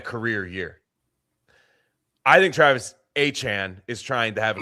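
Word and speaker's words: Etienne: Did you hear that uh Travis ETN has a different pronunciation for his name? Now, yes, it's Travis Achan.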